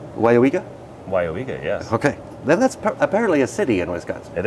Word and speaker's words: Weyauwega: Pronounced correctly. Weyauwega? Weyauwega, yes.